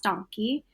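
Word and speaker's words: Ronchi: to Instagram it's Castello ronki for the Americans it's spelled like Roni like the CH also our website is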